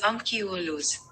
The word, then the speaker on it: Ankhialos: The standard pronunciation of Ankhialos or Ankhialos is Ankhialos.